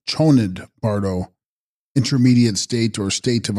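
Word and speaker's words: ཆོས་ཉིད་བར་དོ: Text: Chosnid bardo, pronounced Chonid bardo, intermediate state or state of uncertainty during the experiencing of reality.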